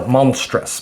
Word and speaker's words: monstrous: be 11 total syllables if monstrous was counted as three syllables so we pause mom stress is a word that you could definitely Allied into monstrous making it a two-syllable word so let's compare how